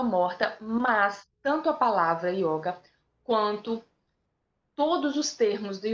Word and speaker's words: yoga: ih você vai ter yoga com y você vai ter um só aberto se for essa essa pronúncia ocidental e você vai ter o som fechado e o outro é só